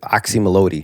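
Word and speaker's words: Oczy Mlody: me or even like the the new album oxy melodi right that's how you pronounce it exactly you're like the first person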